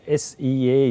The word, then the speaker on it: SEA: Yeah, one of the top brands that we push is SEA, S-E-A it's spelled, but it goes as SEA.